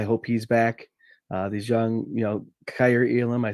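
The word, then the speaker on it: Kaiir: These young, Kyer Elam, I said his name right this time.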